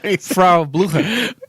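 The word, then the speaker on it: Frau Blücher: Frau Blucher.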